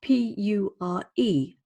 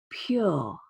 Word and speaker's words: pure: For example, the word pure. It's spelt P-U-R-E. There's no Y. We don't spell it P-Y-U-R-E, and yet we say a Y sound, pure, pure.